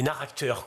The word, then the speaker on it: narracteur: que le thérapeute donc on prononce bien narracteur hein mange de narration et d'acteur avant de se recomposer la